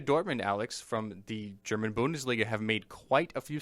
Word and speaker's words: Bundesliga: Borussia Dortmund, Alex, from the German Bundesliga, have made quite a few signings, quite a few big ones.